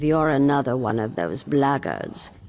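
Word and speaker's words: Blackguards: another one of those bloggers and that's the way to pronounce it not black guards like that thug insisted it was then my answer is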